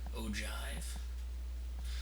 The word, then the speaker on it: ogive: look like o and I might as well spell it for you o Jive um which apparently is